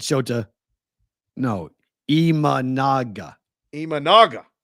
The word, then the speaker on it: Imanaga: say sh Monica I said sha no eaga imanaga imanaga imanaga imanaga write that down Dave e that